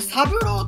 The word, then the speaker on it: 郎郎郎: これサブローと読みますね。